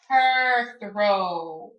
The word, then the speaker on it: Perthro: let's see what the actual pronunciation for that is her throw esoteric meaning for Perth row is fate and the